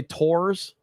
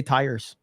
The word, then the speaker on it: tires: I say wash uh some people say tours tires tars I say tires and then uh oil